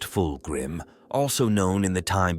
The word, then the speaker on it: Fulgrim: of the darkness to reach the light fulgrim pronounced fulgrim also known in the time before the Horus